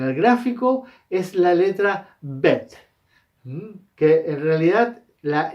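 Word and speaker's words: בית: Entonces, uno no dice Bet, uno dice Bet, ¿ya? Bet. Y ahí suena una E para nosotros. Entonces se escribe B-E-T, pero en el fondo no hay una E, ¿ya?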